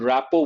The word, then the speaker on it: rapport: He had a good rapport with the military. There is one word. Here the letter T is silent, RT silent. Rapport, a very good understanding.